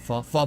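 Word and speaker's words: phở: Or actually, it's pho, right? It's pronounced it pho places and stuff like that.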